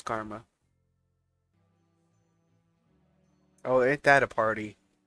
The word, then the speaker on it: Garma: into it garma's fate I was saying it wrong I haven't I it's it's karma not germa it's karma oh Ain't That A